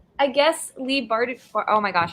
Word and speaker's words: Bardugo: where it's like almost like, I guess, Lee Bardugo. Oh my gosh, how do you pronounce her last name? Bardugo, I think.